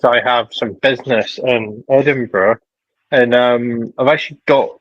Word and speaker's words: Edinburgh: Yes, it's Edinburgh. I can't pronounce. No. Edinburgh. Edinburgh. Brah. Edinburgh. Yeah. Not Edin Burrow. Um. Yeah. Yeah. Yeah. If If you go to Edinburgh and say Edinboro, someone will shout at you in the street.